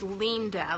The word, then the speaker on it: Linda: Linda a lot because it's spelled like Linda, but really it's pronounced. If you're a true BLB fan, you will know that it's pronounced Linda, like L-E-E-N-D-A, but you can call it Linda too.